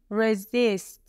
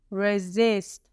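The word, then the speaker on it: resist: فعل این سیست هستش رزیست رزیست بچه‌ها به تلفظش خوب دقت کنید رز اینجا حرف اس صدای ز میده و در تلفظ استرس روی حرف اس هستش رزیست فعل رزیست به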